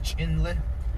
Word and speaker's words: Chinle: my clan so chinle is a navajo word pronounced chinle so inlet means or waters eggs where water